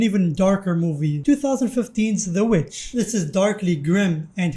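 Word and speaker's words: The VVitch: I always read it in my head pronounced as the Vavich and not the witch cuz it does look like double V's instead of just a W.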